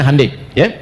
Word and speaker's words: Hyundai: Ya, Hyundai saya tahu bahasanya dibacanya Hai ya.